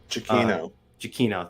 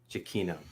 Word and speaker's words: Giacchino: Giacchino. Thank you. Giacchino. I'm sorry, Giacchino. Giacchino. The A is silent apparently, and the H. Amongst other letters. Yeah. And one of the C's.